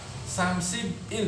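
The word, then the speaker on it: 삼십일: 30 kan samsit maka samsib Il dibacanya samsibil berarti icon isi binon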